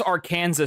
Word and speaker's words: Arkansas: Or actually I got to pronounce it properly. Where is Arkansas State?